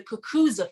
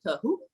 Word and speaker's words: Kukuza: So the Kukuza Fest is what it's called. Kukuza, okay. Kukuza, I didn't know how to say it, so I didn't want to mess up. Yeah, I know. Okay. I know. Trust me, when I heard, I was like, the Kahoo.